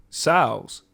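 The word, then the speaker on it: General Tso: It might be their sauce, but like, Oh, yeah, like I said, the shit was named after a general, so it was definitely Sal's. And so The T is silent.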